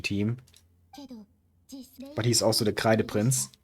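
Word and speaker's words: Kreideprinz: but he's also the K the prince. And yes, that's actually how you pronounce that word because it's a German word and I'm German.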